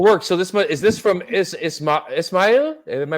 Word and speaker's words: Ismail: So is this from Ismail? Am I pronouncing that right?